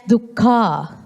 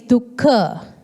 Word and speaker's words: dukkha: Some pronounce it as dukkha, but it's the correct word is dukkha.